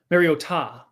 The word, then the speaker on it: Mariota: Pick up Marcus Mariota. Sorry, how'd you say his name? Mariota. Maybe. Yes. Like you gota I want to continue with this segment.